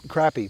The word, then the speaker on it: crappie: perch so or or or crappie or some people from the south call them crappy but uh however you pronounce crappie so this is my